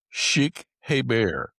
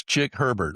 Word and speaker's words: Chick Herbert: Please welcome executive coach, author, community leader, Sheikh Heber. That's really not how you pronounce his name, but that's how he's been introduced in the past. So I couldn't resist. It's Chick Herbert, okay?